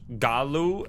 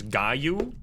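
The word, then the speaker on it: Gallu: It shouldn't be a Gallaloo, which by the way, I've been jabbated by chat all day yesterday to pronounce Gallaloo as Gaou.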